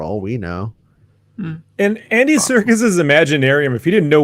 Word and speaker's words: Serkis: or itself for all we know and andy circus's imaginarium if you didn't know what you were